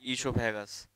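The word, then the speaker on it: oesophagus: हमारा जो food pipe होता है उसको हम बोलते हैं ईसोफेगस। इसमें ओ साइलेंट रहता है, इसको पढ़ते हैं ईसोफेगस या फिर बोल सकते हो फूड पाइप।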